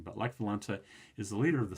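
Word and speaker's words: Lech Wałęsa: Lech Walesa has this, it's W-A-L-E-S-A. I'm not sure why it's pronounced this way. It's, it's a Polish pronunciation. But Lech Walesa is the leader of the Solidarity Party, which starts out as a union.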